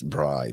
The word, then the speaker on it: Braai: It's not bride, it's Braai. Braai.